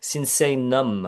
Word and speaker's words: Sinsaenum: You've put an extra I, but it seems like we really need to change the name because everybody makes the same mistake. Sinsaenum.